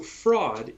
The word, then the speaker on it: fraud: fraud okay so the thing about it so fraud yes that is how we pronounce it in in american english fraud um